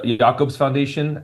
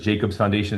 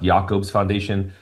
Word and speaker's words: Jacobs Foundation: Another grant that we have is the Yakobes Foundation. I know it says Jacobs Foundation. It's pronounced Yakob's Foundation.